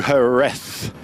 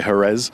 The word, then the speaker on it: Jerez: just welcome back to herth see I said it right that time I didn't say Herz herth for day three